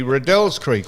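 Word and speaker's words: Riddells Creek: If the man's name is Redell and they name a creek after him, how would you possibly get Riddles Creek?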